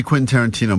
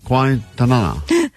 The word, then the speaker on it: Quentin Tarantino: All week, as she's been talking about this prize we have, she's been saying, Quinton? Quintanana. So we're like, what? You talking about Quentin Tarantino still?